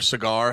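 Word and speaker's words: Saagar: a big fan of his Sagar on or Cigar, however you say his name. It's Sagar on Breaking Points.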